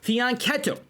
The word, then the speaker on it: fianchetto: Now, of course, like any normal person, I do speak some Italiano, and I know that, of course, it's pronounced fianchetto.